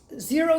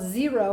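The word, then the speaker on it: Xero: also a company called zero and it's not spelled with a z it's spelled with an x x e r o and these are true barefoot shoes so this is the zero they have a shoe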